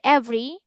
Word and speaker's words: every: We pronounce the word every a bit fast. Every. Every. Just two syllable. Every. Everything. So three syllables only.